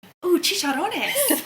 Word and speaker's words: chicharrones: Chicharrones. Ooh, chicharrones.